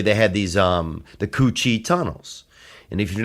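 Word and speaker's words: Củ Chi: they would really they had these um the Coochie tunnels. And if you're not familiar, you can look that up. And that's spelled C U C H I think separate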